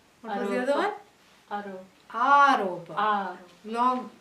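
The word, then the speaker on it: āropa: Snake is Aropa, even though Aropa rhymes with rope.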